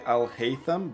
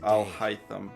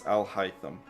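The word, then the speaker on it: Alhaitham: I I know they say Alhayam, but it's pronounced Alhytham.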